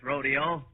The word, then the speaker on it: rodeo: I'm going to make some dough out of this rodeo. McGee. R-O-D-E-O is pronounced rodeo.